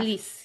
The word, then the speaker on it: Elise: And then the sister Elise, do they pronounce it Elise? Yes. Yeah. Elise, yeah. Um, I liked her.